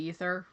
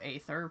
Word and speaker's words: Aether: I believe technically it's supposed to be ether even though it's a ae, which I always kind of go aether, but yeah.